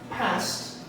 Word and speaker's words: passed: The pronunciation is finished, worked, talked, walked, passed, and watched, okay? Strong T sound, and if you want an example, consider this.